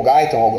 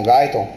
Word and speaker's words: Guyton: Cara, imagina o que um estudante de medicina que leu o livro de Guyton, ou Guyton, alguns pronunciam Guyton, pensou desse teu conhecimento